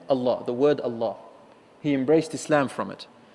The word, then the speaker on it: Allah: plural but the word Allah the name Allah cannot be plural cannot be jewel can only be singular number one it is one syllable word even though it sounds